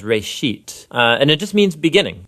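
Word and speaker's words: בראשית: it's called Genesis Genesis comes from a Hebrew word it's pronounced race sheet and it just means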